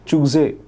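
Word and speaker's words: चूज़े: जहाँ पे अब यहाँ लिखा हर जगह बाज है, बट आई बिलीव बाज होगा, और चूजे लिखा है पर चूजे आप इसे कहिएगा।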